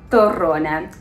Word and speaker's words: torrone: Second, I'm going to pronounce it the way that it should be pronounced, torrone.